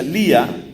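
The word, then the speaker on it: Leah: Hay una mujer de nombre Lea, creo que se pronuncia Lía, L-E-A-H.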